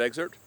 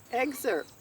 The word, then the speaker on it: excerpt: There's no P in there. The P is silent. Google that. Let's check ChatGPT. The P is often very light, or even silent in some dialects.